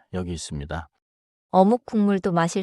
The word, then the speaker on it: 국물: 그리고 국물은 자연스럽게 국물처럼 들려요. Spelling is 국물, but the sound often becomes 국물. So I read the card as 국물, but I should expect to hear 국물.